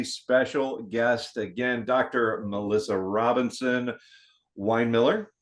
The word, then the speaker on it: Robinson-Winemiller: today with a special guest again Dr Melissa Robinson Wine Miller right I pronounce it right good you did all right